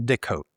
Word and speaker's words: Des Cotes: My last name is Des Cotes. 2 words, 2 S's that are silent.